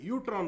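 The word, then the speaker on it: UTRAN: ई यूटी are sorry E हाफेन यू टी आर ए N okay मतलब यूटन बोलते हैं इसको बोलना यूटन ई साइलेंट होता है यहां पर मगर ई साइलेंट होता है इसको यूटन बोलना है टन नहीं बोलना यूटन बोलना है य साइलेंट है य पर यूटन ओके न्यू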